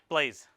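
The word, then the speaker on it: Blaise: diagonally above it yeah cool blaze BL ai se would you prefer to pronounce a different way no oh okay it smell different so well he was uh with he French or Italian he was French yeah hey the pronouncement blaze yeah yes I thought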